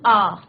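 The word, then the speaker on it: hour: यहाँ पे क्या है बच्चों, अगर आपको याद होगा तो एच क्या है हमारे यहाँ पे साइलेंट है, ओ जो है हमारे वॉवल का जो है प्रोनाउंसिएशन हो रहा है, that is व्हाई वी यूज एन आ.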